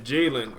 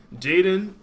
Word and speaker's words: Jaden: do it and then jayen or jayen excuse me that's my twin man I don't know why I keep pronouncing his name wrong like like we don't got the same name Jaden will be our lock